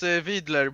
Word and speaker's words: Widler: It's your second name, Widler? I don't know. In Swedish, it's Vidler, but Vidler.